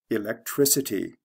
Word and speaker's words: electricity: change the spelling but it goes from a hard c electric to a soft c electricity like from a k to an s sound let's look at the